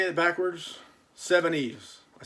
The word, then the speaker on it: Seveneves: I'm not that smart of a fellow, but it took me a little bit of time to realize that SEVENEVES backwards is Seven-Eves, and it's what the French call a palindrome.